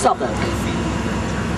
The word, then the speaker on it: Southwark: So we've come into the south of the river to an area called Southwark, spelt Southwark, but pronounced Southwark.